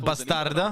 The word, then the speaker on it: Bastardo: of course, with how Bastardo. for MIBR. They are coming in with... They pronounce it bastarda.